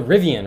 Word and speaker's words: Rivian: your thoughts on uh the rivet did I say it wrong uh I think it's the rivian right um they make a